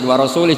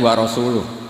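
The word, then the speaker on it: وَرَسُولُهُ: urusan dengan orang musyrik warasuli juga enggak ngurus rasulnya kalau sama Rasul saja gak ngurus apalagi sama kita sesama sayidina Ali dibenarkan yang benar bacanya itu wa rasuluh Allah Bari Minal musyrikin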